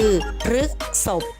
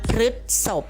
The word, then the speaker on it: พฤษภ: ครับ เป็น คำ นาม อ่าน ได้ 2 ลักษณะ คือ รึก ศพ หรือ รึ ศพ ใน คำ ประพันธ์ นี้